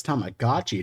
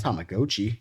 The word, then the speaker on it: Tamagotchi: It's Tamagotchi, not Tamagotchi.